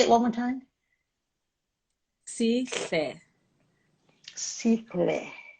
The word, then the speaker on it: Sihle: I pronounced Sihle. it. Please say it. We're going to get this right. Sile. So Sihle. I love. Please say it one more time. Sihle.